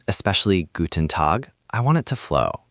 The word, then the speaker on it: Guten Tag: In Guten Tag, the main stress is on Tag. Say it like one smooth unit, Guten Tag. The N in Guten is quick and light, not heavy.